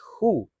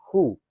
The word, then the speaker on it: who: Nah, cara ngucapinnya ini who. Ada namanya silent letter di dalam bahasa Inggris. Nggak usah disebut. Nah, sama kayak gini. Nah, ini contohnya W-nya nggak usah disebut. Jadi who.